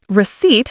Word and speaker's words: receipt: Receipt has a silent p.